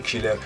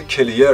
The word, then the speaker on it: کلیر: هم صحبت بکنیم و تلفظ اشتباهی که هممون به اشتباه میگیم کیلر. همونطور که در تصویر میبینید تلفظ دقیق این واژه کلیر هست نه کیلر. حالا چون دوستان همه میگن کیلر بنده هم میگم کیلر، وگرنه در حقیقت واژه درست و تلفظ صحیحش کلیر هستش.